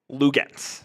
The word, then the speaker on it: Luguentz: Luguentz.